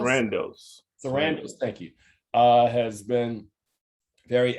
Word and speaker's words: Sarandos: Meanwhile, Ted, is this, how do you pronounce it? Sarandos, thank you, has been very adamant in his defense of Dave Chappelle.